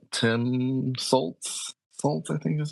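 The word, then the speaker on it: Sult: Like Tim Saltz, I think is how you say his last name. Hmm. I think is Salt, not Saltz.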